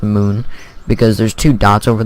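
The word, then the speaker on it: Mün: going to be kban mun flag which is actually pronounced Moon because there's two dots over the moon thing and the way you pronounce it is Moon not mun but I I'm not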